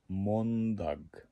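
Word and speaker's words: måndag: দগকে দা বলে, মানে চলতি শব্দ আর কি, চলতি কথায় বলতে গেলে লর্দা, সন্দা, মন্দা।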